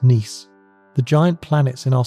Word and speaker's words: Nice: According to the Niss model, named after the French city pronounced Nice, the giant planets in our solar system didn't form in their current locations.